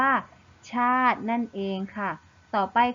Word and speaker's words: ชาติ: นั่น เอง นะ คะ แต่ เรา จะ ไม่ อ่าน ออก เสียง สระ อิ นะ คะ ซึ่ง คำ นี้ เรา จะ อ่าน ได้ ว่า ชาติ นั่น เอง ค่ะ ต่อ